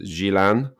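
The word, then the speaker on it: Gjilan: capital is Pristina and where Dra are from is pronounced Gilan and that is the third most populous city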